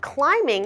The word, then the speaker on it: climbing: I love climbing mountains the word climbing has a silent B so we don't say climb Bing Let's Pretend the be is not there instead let's pretend it's an m i n sound so I love climbing